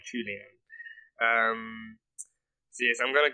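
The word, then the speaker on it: Qiaolian: Okay, yeah, Melinda Chulian May. That's her name, Chulian. No, not Chowlian, Chulian.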